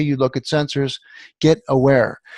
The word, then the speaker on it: Awair: Get aware. And aware is spelled AWAIR. Of course, being that was a phonological ambiguity, by the way.